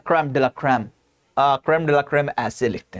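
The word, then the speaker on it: crème de la crème: हां हमारे सबसे अच्छे डॉक्टर्स सबसे बेस्ट ऑफ़ द बेस्ट जैसा मैंने कहा ना क्रम डला क्रम क्रम डेला क्रम ऐसे लिखते हैं क्रम डे ला क्रम अह ठीक है।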